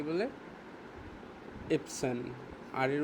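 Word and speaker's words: Erbsen: ইপসেন। আর এর উচ্চারণটা উচ থাকবে। দি ইপসেন ডি ইউপসেন মানে হচ্ছে র টাকে আরটাকে ইপসেন মানে হচ্ছে র এর মত উচ্চারণ হবে না এটাকে হালকা উচ্চারণ করে দেন চলে যাবে দেন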